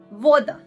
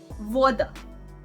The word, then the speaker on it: voda: Voda. Voda. It is water, and like V in the water.